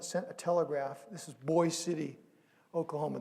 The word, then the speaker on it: Boise City: a telegraph this is boys city oklahoma they pronounce it boys city it looks like boise city and they sent a